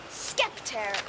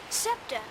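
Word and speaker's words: scepter: as I hold this skepter in my hand skeptor what's a skeptor Septa it's pronounced SEPTA it's sort of a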